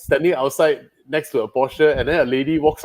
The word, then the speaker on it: Porsche: And then it's like, they know Americans say Porsche, right? And he said, no, it's a Porsche.